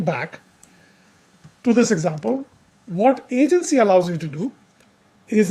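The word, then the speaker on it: AGNTCY: an open source project called Agency. That's spelled a g n t c y.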